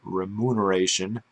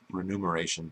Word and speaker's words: remuneration: know, conditional on whatever remuneration onomi, I don't recall that's how you say it. Remuneration, although I can't hear it that way. It sounds renumeration to me, but whatever.